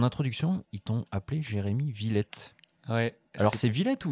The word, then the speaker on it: Villet: de mauvaise prononciation techniquement c'est ça se prononce Villette mais c'est trop tard les gens disent villaient maintenant c'est bâti sur survie